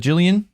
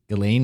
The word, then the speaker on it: Ghislaine: Is it Jillian Maxwell? Ghislaine Maxwell. Yeah, By, her name is spelled really weird. It is spelled weird. And it's like Ghislaine.